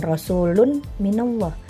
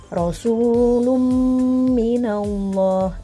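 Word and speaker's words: رسول من الله: Maka dibacanya jangan rasulun minallah, tapi rasulum minallah. Itu karena menjadi hukum idgham bighunah ya, melebur ee tanwinnya masuk ke dalam huruf mim.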